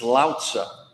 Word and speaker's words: Lao Tzu: When you pronounce his name, all the stress is on the first syllable. It's Lao Tzu.